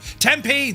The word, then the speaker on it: Tempe: Tempe. Thank you very much indeed. That's how we pronounce it.